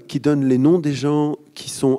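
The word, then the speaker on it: Geuens: est difficile à prononcé c'est gens ça se dit ou gayens G e u e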